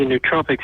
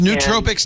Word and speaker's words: nootropics: do, and he's a nootropics expert. So supplements that are cognitive enhancement aids, not drugs, aids. Is that pronounced nootropics, not nootropics? I'm glad to know that. Nootropics. It's N-O-O. Nootropics.